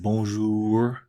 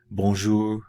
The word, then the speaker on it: bonjour: okay bones ooh if you want to say bonjour bonjour and come over in English are it's not